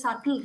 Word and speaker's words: subtle: cannot give this because actually it's pronounced as subtle right okay I'll give you one more example and I have this as an example for birth be a silent turned be silent be silent home oh yeah sorry sorry about that b is silent exactly it is actually